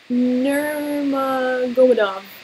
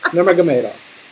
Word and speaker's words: Nurmagomedov: Spell, how do you pronounce his name? Nurmagomedov. Close. And how about his first name? Khabib. No. Khabib. Nurmagomedov.